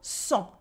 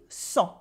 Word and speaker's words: cent: So first of all, we have cent with the silent T and this en sound that is nasal, cent. Repeat after me, cent. Like the blood actually.